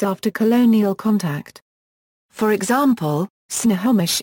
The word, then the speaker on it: Snohomish: For example, Snohomish is currently pronounced Stahobish, but was transcribed with nasals in the first English language records.